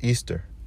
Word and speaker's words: Ishtar: as pronounced Ishtar or it's a written Ishtar but the way you pronounce it is Easter all right so summer